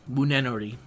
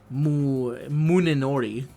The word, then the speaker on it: Munenori: And then we have Voyager, and he's with Yagyu Munenori. I had to listen to him say his name because I keep wanting to call it Munenori, which is not correct. It's Munenori, because he says, "My name, Yagyu no Taiga Munenori."